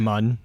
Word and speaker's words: Moon: Is that how you say her name? Mun? Mun. Mm-hmm. Yeah.